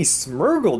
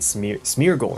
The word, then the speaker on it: Smeargle: take an unlimited amount but like how many smurgle do i get yo did i say smurgle i meant smeargle right smear it's mere goal right that's how